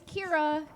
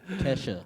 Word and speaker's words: Kira: Just like it's Kira, not whatever you say. Kesha.